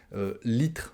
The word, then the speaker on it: litre: C'est comme ça qu'on prononce, on mange la dernière syllabe, le RE. Je vais prendre 1 litre d'eau.